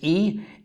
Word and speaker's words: e: coochi and a or in english better pronounce this e is the Japanese word